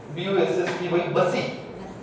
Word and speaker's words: Bussy: Pronounce this. This is a person name. Bussy.